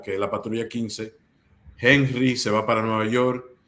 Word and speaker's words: Henry: Aquí tenemos Henry Hierro, siempre pronunciando la H como el americano, dominicano que soy.